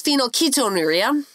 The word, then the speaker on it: phenylketonuria: It's still hard for me to pronounce. Phenylketonuria. Yes. Okay. It's phenylketonuria.